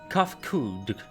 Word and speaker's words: Kafkud: As for nomenclature to address my individual person, I believe it would be pronounced Kafkud.